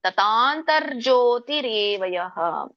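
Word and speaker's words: ತಥಾಂತರ್ಜ್ಯೋತಿರೇವ: ಮೂರನೇ ಲೈನಲ್ಲಿ ತಥಾಂತರ ಜ್ಯೋತಿರೇವ ಇಲ್ಲಿ ನೋಡಿ ಜಕೆ ಯವತ್ತಿದೆ ಮತ್ತೆ ಅರಕಾವಳಿ ಕೂಡ ಇದೆ ಹಾಗಾಗಿ ರ ಮೊದಲು ಹೇಳಬೇಕು ಜ ಗಿ ಅಂತ ಅತತಾಂತರ್ಜೋತಿರೇವಯಹ ತತಾಂತರ್ಜ್ಯೋತಿರೇವಯಹ ಅಂದ್ರೆ ಆತ್ಮದ ಒಂದು ಏನು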